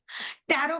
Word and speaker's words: tarot: ए आर ओ टी टैरो का pronunciation हम टैरो बोलते हैं लेकिन लिखते टैरोट है है ना अगर हम इसे हिंदी में लिखना चाहेंगे तो वो टैरोट बनेगा पर टी साइलेंट है तो टैरो बनेगा टैरो